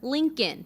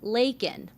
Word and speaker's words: Laken: illegal critics pointing out he called her Lincoln instead of Laken others zeroing in on